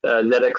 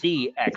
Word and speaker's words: ZX: of the uh other zx spectrum remakes that didn't turn out as well zx is how they want that pronounced cx spectrum is how the europeans want to pronounce it if you go back